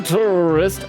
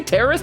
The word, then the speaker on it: tourist: Oh, just a tourist. Oh, did you say terrorist? Nah, it's a tourist. Tourist. Tourist? You're adding an extra syllable to tourist.